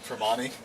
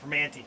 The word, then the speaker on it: Primanti: Tremonti. No, Primanti.